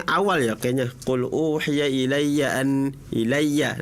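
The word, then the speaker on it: إِلَيَّ: Qul uhiya ilaiya ilaiya. Nah itu yanya samaanya itu bukan bukan idgam bigunah. Ilya ilaiya bukan ilaiya ilaiya. Nah itu jangan panjang panjang karena itu bukan idgam biguna seperti itu ya.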